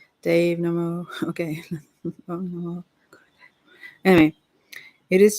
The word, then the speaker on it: Namo: The first part of Namo is short and rhymes with hum. Namo.